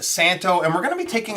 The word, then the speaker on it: Szanto: guess the pronunciation with the Z or Z depending on where you're from is silent I probably would have went with Szanto so I'm glad that they've corrected me the pronunciation though is Santo so this particular model